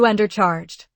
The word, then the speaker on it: undercharged: That word, undercharged, means I paid less than the correct amount. Stress the first syllable. You undercharged.